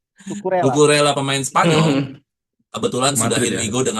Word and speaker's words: Cucurella: Karena si Cucurella, ya, gimana bacanya? Cucurella. Kukurela. Kukurela.